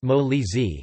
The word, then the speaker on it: Molise: Molise, pronounced Molise, is a region of southern Italy.